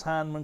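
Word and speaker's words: Hindman: his mom beth i do know how to pronounce heineman kentucky just wanted you to know and i tell you it was really grating to listen to those announcers say hinman last night over and over but we are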